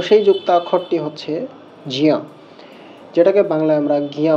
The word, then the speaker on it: জ্ঞ: পঞ্চম নাসিকা বর্ণ ঞ, অর্থাৎ জ এবং ঞ, এই 2 বর্ণের সংযোগে এই যুক্তাক্ষর। যেহেতু এর মধ্যে জ এবং ইয়র সংযোগ আছে, তো এর উচ্চারণ জিয়া ই হওয়া উচিত, এমনটা